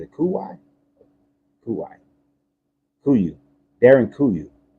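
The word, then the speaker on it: Derinkuyu: cool guy who you Darren kuyu Darian cuyu exactly that would be more of the pronunciation but durian cuyu is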